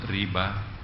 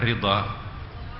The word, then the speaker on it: Rida: Rida Apa yang dimaksud riba riba eh Rida Rida tulisannya DH mestinya ejaannya itu adalah DL Rida ya Rida itu dari